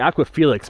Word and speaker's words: Aqua Felix: I've been calling it the Aqua Felix, but really in Italian it's the Aqua Felice. The Aqua Felix is the Latin name, I think.